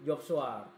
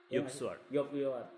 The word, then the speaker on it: Joop Swart: Ini adalah workshop yang benar-benar kalau di fotografi bergengsi banget ya Mas, namanya workshop Job Swart. Job Swart. Itu agak-agak Belanda tuh ya.